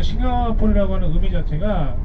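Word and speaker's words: Singapura: 국가 연주하아요 국가 대니까 그 싱가포 연할 때 싱가포라 하 싱가포라 그래요 들 다가 이제 1819년에 영국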